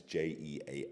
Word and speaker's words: Jean: If you can show a picture of Jean Piaget's office, it's spelled, his name is Jean, it's Jean, and his surname is Piaget, Piaget.